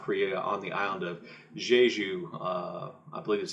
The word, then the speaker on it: Jeju: place in South Korea on the island of Jeju, I believe is how you pronounce it, in 1948 through 1950, in which